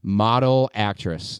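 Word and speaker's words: Model/Actriz: So then the next band that we're going to be seeing is next Saturday called Model Actress. It's spelled model/actress with an IZ instead of actress.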